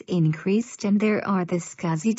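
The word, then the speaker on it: SCSI: small computer system interface scuzzy is pronounced scuzzy this entered was designed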